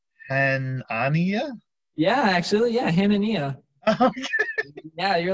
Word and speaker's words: Hanania: with you here how do you think it's pronounced and ania yeah actually yeah hananiah yeah you're like probably ten percent i actually